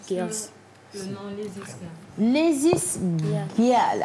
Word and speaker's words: Lazies Gyals: Lazy Girls. Alors, ça s'écrit L-A-Z-I-E-S G-Y-A-L-S. Lazy Girls.